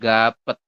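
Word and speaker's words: 값: Jadi kalau cuman 4 huruf seperti ini kan kalau dibaca semua kan jadinya gapet gitu ya. Kan harusnya dibaca gapet ya. Nah, nanti teman-teman dibacanya hanya gap saja. Seperti ini. Apa yang berubah? Yang berubah adalah siotnya tidak dibaca. Jadi kalau hanya menemukan 4 huruf seperti ini, tanpa ada tambahan lainnya, maka teman-teman baca hanya 3.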